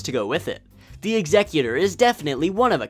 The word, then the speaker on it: Executor: The Executor is definitely one of a kind, and that is how it's pronounced, Executor, not Executor.